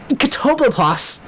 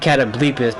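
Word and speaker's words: Catoblepas: Guys, it's pronounced Catoblopas. Guys, it's pronounced Catoblopas. Nice. As some inside info in that song, we pronounced it Catableepus because that's what I thought it was pronounced, and then I played the game.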